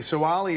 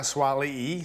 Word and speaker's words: Suaalii: players now just quickly so ali is now swally so for pronunciation reasons i just wanted to